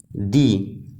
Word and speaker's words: the: book in examples में orange का first letter वल है तो य हम प्रोनाउंस करते हैं दी ऑरेंज इसी तरह इस एग्जांपल